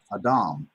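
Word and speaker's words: אדם: accent is in Hebrew I find the accent is normally on the second half of the word a Dom insisting autumn as processing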